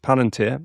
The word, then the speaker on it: Palantir: How do you pronounce it? Palanteer. It's Palanteer.